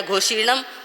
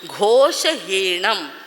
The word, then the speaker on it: घोषहीणम: फेरते ही क्या, घोषीणम, घोषीणम नहीं है, घोषहीणम, जोगहीणम, घोष रहित, हीन यानी रहित, घोष रहित मत बोलो, दोष रहित बोलो, गुण सहित बोलो।